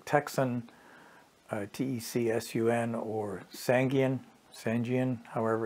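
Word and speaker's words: Tecsun: is the one and only there's companies like texan t-e-c-s-u-n or sangian sanjian however it's pronounced that produce radios with very similar performance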